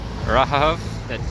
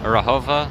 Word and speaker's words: Rahova: Okay, so next stop, Rahov. No, I pronounced that completely wrong. Rahova Slovaki.